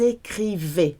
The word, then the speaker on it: écrivaient: J'écrivais, tu écrivais, ils, elles, on écrivait, nous écrivions, vous écriviez, ils, elles écrivaient. The last one sounds like the first three. The ENT is silent when it comes to verbs.